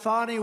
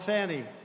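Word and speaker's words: Fani: have to pronounce it fonnie it's called Fanny you have to pronounce fonnie I don't know how she get she should add a little u in there someplace if she wants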